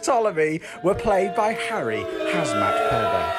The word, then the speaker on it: Ptolemy: 13th pharaoh of egypt it's pronounced ptolemy were played by harry